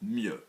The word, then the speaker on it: mieux: people are really beginners, if you say better, which is 2 syllables, then in French you're going to go with 1 syllable, mieux.